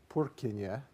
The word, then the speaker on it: Purkinje: This is a man whose last name is Purkinje. That's the proper way to pronounce it. He's Czech.